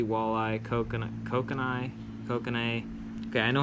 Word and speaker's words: kokanee: trout bass crappie walleye coconut coke and I kokanee okay I know how to pronounce that fish I'm just not doing it